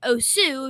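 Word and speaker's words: osu!: See, whenever I get a chance to play my new favorite game, OS, I think it should be pronounced Osu because it's like OSU, Osu, but they call it OS, and there is OS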